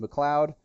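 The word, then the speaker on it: MacLeod: M McLoud is I I've been confirmed that it is pronounced McLoud um you can find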